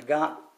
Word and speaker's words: Nagant: thing i found out that in in russia nagant as we say in america they in russia